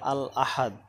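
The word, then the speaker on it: الأحد: তারপরে দেখো যে শব্দটি ওটা আল আহাদ, আল আহাদু আর কি, আসাব্দু আল আহাদু আসাব্দু, তারপর ওটা হলো আল আহাদু।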